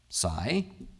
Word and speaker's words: psi: and Greek letter is called PSI which physicists pronounce PSI as in Psy ableman I love this quotation